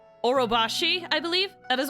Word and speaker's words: Orobashi: How it's pronounced. Orobashi, I believe? That is Orobashi, which is a giant snake.